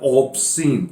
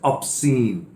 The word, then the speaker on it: obscene: पहले इस पे प्रोनाउंसिएशन में ध्यान दीजिए, कुछ लोग इसको प्रोनाउंस करते हैं ऑब्सीन, इट्स नॉट O, this is ऑब्सीन।